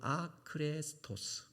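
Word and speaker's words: ἄχρηστος: 무익하다라는 이 단어는 아크레스토스라는 단어예요. 헬라어로는 아크레스토스. 근데 이게 무엇과 발음이 비슷하냐면 그리스도가 없다라는 단어와 비슷해요.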